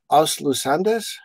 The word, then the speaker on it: Os Lusíadas: teach a history of Western civilization course, but Os Lusíadas, is that correct pronunciation wise?